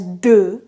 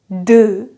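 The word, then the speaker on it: deux: teaching you all these things afterwards two is pronounced as do do do three is pronounced as toa toa is that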